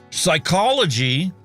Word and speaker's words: psychology: Psychology, the P is silent.